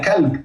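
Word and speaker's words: كلب: Instead of the qaf, you turn to kaf, you say kalb.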